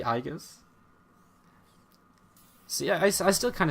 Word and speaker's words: iaguz: yeah I don't remember it's actually igas see I I still